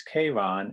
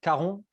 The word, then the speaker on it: Charon: a moment and um the pronunciation in english is k-ron and uh there's a different pronunciation in french can you tell us that pronunciation and also what the meaning behind this word is yeah no problem so the in french the the film is called karun uh and it's about